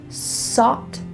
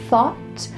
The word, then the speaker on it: thought: I often hear English learners switching an s and a th sound. Sought instead of thought.